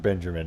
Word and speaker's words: Benjamin: My name is always pronounced Benjamin, and I have to throw this out there. There is no R in the name Benjamin, and I don't hold